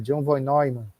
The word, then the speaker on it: John von Neumann: A pronúncia mais correta, John von Neumann.